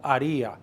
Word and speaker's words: haría: Dile que yo no lo haría. Remember that H is silent.